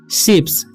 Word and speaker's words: ships: के बाद भी S रहता है तो उसका उच्चारण स होता है, जैसा कि हम इसमें देखे हैं, तो इसे पढ़ेंगे हम शिप्स।